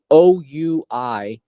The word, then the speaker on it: Ouija: want to Google it, it's not spelled the way you think it's spelled. It's actually spelled Ouija. How weird is that, right? Ouija, but it Yeah. spells Ouija.